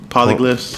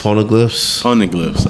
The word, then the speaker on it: Poneglyphs: Polyglyphs. Poneglyphs. I say it wrong.